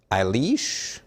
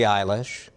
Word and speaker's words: Eilish: no it's dogecoin dogecoin how about singer songwriter billy aileesh or eagle center jason kelsey uh those are both wrong billy eilish jason kels you can see